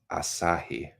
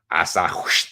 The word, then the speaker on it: Asahi: Okay, is actually pronounced Asahi. Asahi.